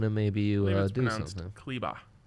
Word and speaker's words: Kleber: Kleba. Oh, it is, and they were pronouncing that properly on the broadcast.